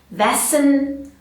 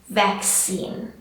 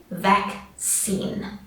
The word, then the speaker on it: vaccine: So just be careful, it's vac, we've got the k sound, and scene, we've got that e sound. So it's not vaccine or vaccine, it's vaccine. All right, I'll say that again, vaccine.